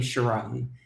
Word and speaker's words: Sharron: later so thanks and I pronounced my name Chiron and you wouldn't have known that all right sorry about